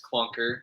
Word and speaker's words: Klunker: No, my my last name actually is Clunker. It's spelled Klunker.